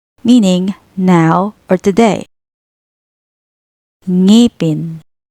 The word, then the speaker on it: ngipin: It's similar to the NG in English words like wing, sang, or ringing.